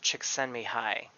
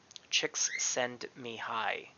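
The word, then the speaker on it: Csikszentmihalyi: a little easier phonetically the name is pronounced chicks send me hi chicks send me hi to stretch out the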